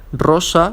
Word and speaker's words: rosa: It has to be an starting R. So as we can see here, rosa, which means rose, and Russia, which means Russia.